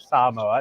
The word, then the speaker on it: Samoa: never been to American Samoa that's how you pronounce it Samoa it's very hard for people here on the